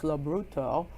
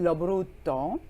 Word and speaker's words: Lobrutto: And you know, it's perfect for today because Joseph Lobrutto, and it's going to be pronounced just like that. Yes, Joseph right. Lobrutto.